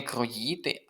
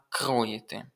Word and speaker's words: кроїти: Тут неправильний наголос стоїть у слові кро не кроїти, а кроїти. Наголос на перший склад.